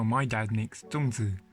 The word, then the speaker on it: Zongzi: Hi everyone, today I will show you how my dad makes Zongzi (which is how you say it in mandarin), or Zong in Cantonese.